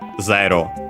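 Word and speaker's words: ゼロ: So actually, like in English, just be careful, mindful that in Japanese it's zero, not with the e sound.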